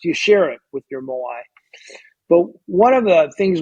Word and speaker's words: moai: It's called a moai. It's spelled M-O-A-I, moai, and it's a committed social circle of 4 or 5 friends, and they travel through life together.